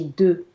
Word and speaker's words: deux: J'ai des enfants This one is et j'ai deux.